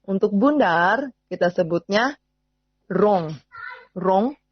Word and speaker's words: rond: Rond, R-O-N-D. Bacanya rond.